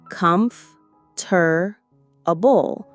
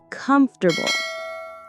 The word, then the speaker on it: comfortable: You might see four syllables. Comf tur a bull. But most natives say comfortable. Just three quick beats.